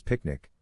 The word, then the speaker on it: PQNK: Peter kinam kadak kiari pronounced as picnic represents a return to